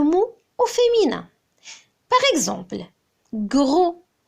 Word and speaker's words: gros: Par exemple, gros. Quel est le féminin de gros? Gros. C'est grosse. Grosse. On entend le son S au féminin. Donc, il faut ajouter un S à la fin de gros.